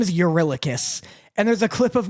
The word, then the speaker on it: Eurylochus: Again, his name is Eurylochus. And there's a clip of me going, oh, well, I'm an idiot. This makes it so much easier. It's Eurylochus.